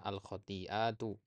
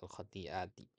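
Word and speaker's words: الخطيئات: baik kemudian alkhatiat ya Ini bacanya alkhatiatu Ya altiatu bukan altiti nah perhatikan kata-kata yang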